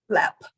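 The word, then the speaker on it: Lemp: chance it's left Castle what is it called LEP but it's spelled l-e-m-p l-e-m-p okay and just just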